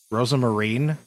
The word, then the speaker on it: Rosa Marine: Rosa Marine? It actually is pronounced like that. That's so weird. I felt it was just a different way to spell Rosemary. Rosa Marine.